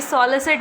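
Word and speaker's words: solicit: ये सॉलिसिट है, इसको क्या बोलोगे? SAW वाला सॉ लो। ठीक है, सॉलिसिट, SIT वाला सिट। ठीक है, सॉलिसिट है ये, इसका प्रोनाउंसिएशन ये है।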